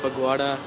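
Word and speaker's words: Phagwara: My hometown is Fagwada, Punjab, India. I can't even pronounce that.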